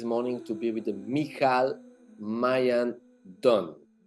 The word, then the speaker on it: Michal Maayan Don: to be with the mikal Mayan Don if I pronounce correctly your name perfect perfect welcome Mel I'm